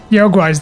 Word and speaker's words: Yaoguai: Yaoguais. Yaoguais, that's how you say it.